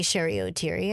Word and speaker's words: Cheri Oteri: But I always say Cheri Oteri.